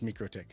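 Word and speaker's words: MikroTik: Is it because I say Microick because I believe it's Microick.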